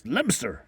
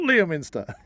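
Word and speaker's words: Leominster: annoying people by saying it's lster it's lster not Liam Minster yeah my apologies if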